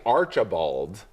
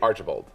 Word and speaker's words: Archibald: Archibald's definitely one of them, because if you say Archibald, it's too much. It has to just be Archibald. It has to be a quick middle syllable.